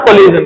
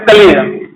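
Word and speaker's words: collision: ठीक है, चलो अच्छा पार्टी, बहुत अब बात करते कोलिजन की या कलीजन। ठीक है, क्योंकि मुझे भी 3-4 महीने पहले मालूम पड़ा कि इसका सही प्रोनाउंसिएशन कलीजन है, कोलिजन है।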